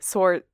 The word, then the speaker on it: sword: her swordsmanship her swords why am i pronouncing the w in sword all of a sudden anyone shows off her swordsmanship or shall i say sort i did it again